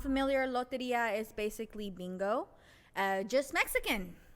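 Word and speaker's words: Lotería: If you're not familiar, loteria is basically bingo, just Mexican.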